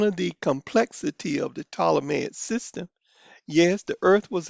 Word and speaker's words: Ptolemaic: And the P is silent, Ptolemaic, Ptolemaic system.